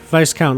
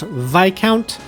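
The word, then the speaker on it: viscount: on the shore of Lake Evel my father Vice count R said governs the town which itself is part of the courts and province I know it is pronounced VI count but they pronounce it Vice count so in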